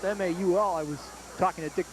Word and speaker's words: Mahoney: stop along with Kyle ball the fullback it's pronounced ma you all I was talking to dick grapes at halftime